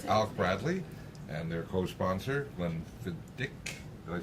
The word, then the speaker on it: Glenfiddich: This show is brought to you by Alec Bradley and their co-sponsor, Glenfiddich.